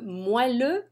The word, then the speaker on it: moelleux: Le moelleux au chocolat. Lots of people don't know how to pronounce that word.